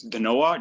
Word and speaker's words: Danoa: with kayla fitzpatrick uh it's the noah just the way it's spelled nothing thanks into it